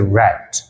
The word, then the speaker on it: read: Read lagi kah? Bukan. Bentuk tulisannya memang sama, tapi membacanya menjadi read. Read, read, read.